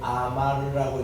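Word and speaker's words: אמר: 요거를 이제 코어라고 했습니다 요거를 아마르라고 읽어요 말을 한다 누가 하나님께서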